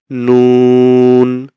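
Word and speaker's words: نون: আরেকটা হলো দেখি আমরা নুন নুন নুন উচ্চারণ হবে কোথা থেকে জিবার আগা তার বরাবর উপরের তালুর সঙ্গে লাগিয়ে নুন আমরা যদি ইমেজটা দেখি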